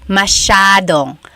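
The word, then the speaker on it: masyadong: Elijah said, "How do you pronounce mashadong?" Mashadong means a lot. So the s y a is a sha sound.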